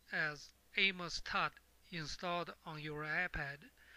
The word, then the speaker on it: AOMS: settings you need to have the a TT pronounced as aamos TT installed on your iPad to start just